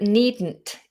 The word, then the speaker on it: needn't: There are plenty of others, but needn't is similar. It's kind of pushed up.